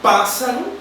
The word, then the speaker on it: pássaro: Na palavra pássaro, a sílaba mais forte é o pá.